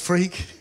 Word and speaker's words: Freke: thank you hello so my name really is pronounced freak and if you can